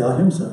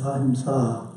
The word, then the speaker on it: Ahimsa: Ahimsa is a challenging word to pronounce because it has a long A at the end. We want to say Ahimsa, right? That's the English way of saying it, but it's Ahimsa. The A at the end is long.